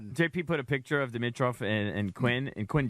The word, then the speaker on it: Dimitroff: me out I've always thought his name was pronounced Demetri off okay and I was like throwing the eye